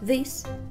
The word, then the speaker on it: this: Отличием является то, что местоимение «это» мы будем говорить как «this» коротко, а местоимение «эти» мы будем говорить протяжно «these», «this» and «these».